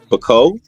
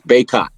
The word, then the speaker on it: Bacot: My last name is French. So technically it would be Bacot. You wouldn't pronounce the T.